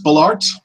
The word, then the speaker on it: Bollaert: I forget how to pronounce your last name. Please share that with me. It's Bollaert. Bollaert.